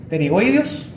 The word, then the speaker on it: pterigoideos: Así se escribe, se pronuncia pterigoideos, pero es como escribir psoas. Yo cuando digo el músculo psoas, No digo psoas, ¿cierto? Digo psoas. Pero al escribirlo se escribe psoas. Estos se dicen pterigoideos, se escriben pterigoideos.